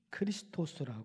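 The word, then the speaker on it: Χριστός: 예수아 그리스도라는 단어는 헬라어인 그리스도를 정확하게 발음하면 크리스토스 합니다 그리고 구약성경 언어 히브리어로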